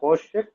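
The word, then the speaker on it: חֹשֶׁךְ: So Hoshek. So two syllables are there. Ho is one syllable, shek is another syllable. Ho is opened, shek is closed.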